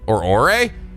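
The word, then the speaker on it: 俺: quote, used in casual ore? It's used in casual setting between people who are very close to each other. Oh, I guess it's pronounced Ore, O-R-E.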